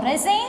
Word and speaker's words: resign: resign பண்ணுவோம். So what is the silent letter here? G.